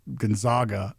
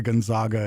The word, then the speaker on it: Gonzaga: But like the name, like as an actual like family name, would actually be pronounced Gonzaga, like often.